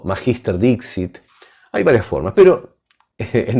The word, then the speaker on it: magister dixit: Una de estas falacias es lo que se llama en latín magister dixit. Lo repito despacio. Magister o magister dixit. Les explico algo. El latín tiene más de una forma de ser pronunciado.